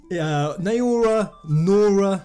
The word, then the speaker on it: Naora: Naora, I've heard it pronounced Nora sometimes, Naora-san. I'm just gonna say Naora.